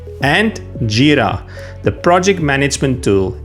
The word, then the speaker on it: Jira: And Jira, the project management tool. It's Jira, not Jira.